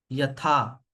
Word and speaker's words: यथा: अगर आप देखेंगे इस ए के ऊपर बार नहीं है, इस ए के ऊपर बार है ना। तो जब हम इसको प्रोनाउंस करेंगे तो हम क्या करेंगे, आ। ठीक है, ये सिर्फ छोटा आ है ना। ये बड़ा आ की मात्रा है। तो यथा देहे, है ना।